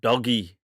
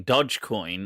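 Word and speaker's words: Dogecoin: right so right so somebody said i think it's pronounced doggy oh is it do i've been saying dodge coin unless they say doge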